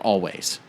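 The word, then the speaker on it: Alvvays: break about this band called always it's actually also like churches spelled with two V's instead of a double you get out of your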